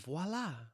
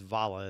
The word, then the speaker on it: Vola: like you know like you do this and you do that and voila. No, it's just it's valla.